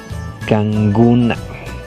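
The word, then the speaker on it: kankuna: o este, ñukanchik, nosotros, kanguna. Ahí como la pronunciación de la segunda, de la Q, se pronuncia como la G, kanguna, ¿de acuerdo?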